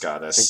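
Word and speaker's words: Godus: And they've made Goddess and Goddess Wars, and not doing it's too totally pronounced Goddess.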